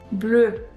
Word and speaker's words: bleu: We add E at the end for feminine words, but it is not pronounced. So you will not hear the difference. It's pronounced the same, but you will see